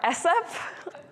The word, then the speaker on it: sexp: So is it sexup or sup? I don't know. Let's go with sexup, which refers to S expression, and hence my confusion, right? Like sup, S expression, right?